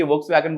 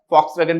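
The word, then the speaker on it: Volkswagen: इसी तरह से जर्मनी की वोक्सवैगन ग्रुप आता है, फॉक्सवैगन भी उसको कुछ बोलते हैं, वी से हम लोग लिखते हैं तो उसको कोई वोक्सवैगन भी बोलता है, तो दोनों तरह का प्रोनाउंसिएशन रहता है और इससे फोर्ड आ जाती है।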